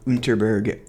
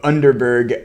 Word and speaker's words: Underberg: uh three bottles of unterberg I keep pronouncing it like a fake German of underberg uh bitters the three